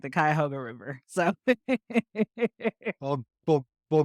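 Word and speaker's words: Cuyahoga: mispronounced the name of your community college it's pronounced kayoga like the kayoga river so well well well good I'm glad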